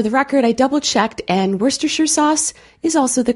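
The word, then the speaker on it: Worcestershire: er and for the record i double-checked and werster sure sauce is also the correct pronunciation not worse Esther sure so I'll put that one in the kitchen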